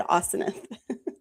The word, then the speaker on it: Asenath: When I looked up the pronunciation, it said Asenath.